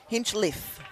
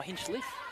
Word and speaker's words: Hinchliffe: Hinchliffe. Oh, Hinchcliffe. Yes. So. Sorry, no C in there, Hinchcliffe.